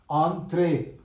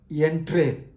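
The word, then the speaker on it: entrez: about the pronunciation three in French a o n i n and u n produce a nasal sound or nasal sound Onre not Entre Onre Onre Sil play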